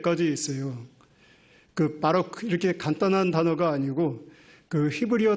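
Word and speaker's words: ברוך: 첫 글자는 B 발음이 나오고, 두 번째 글자는 R 발음이 나오고, 이제 끝에 거는 K 발음, 크 발음이 나오는데, 베들레헴 할 때 배가 이제 첫 번째 글자예요.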